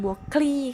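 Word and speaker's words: บัวคลี: กุมาร ทอง ลูก นาง บัว คลี ค่ะ ออก เสียง ว่า บัว คลี่ ผู้ แต่ง ก็ คือ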